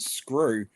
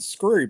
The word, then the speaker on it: Scroob: For ages, I thought it was President Screw, but it's actually President Scroob.